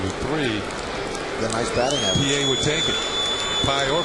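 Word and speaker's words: Pie: trying to be funny the batter's name is Felix PA but it's spelled pi and they have on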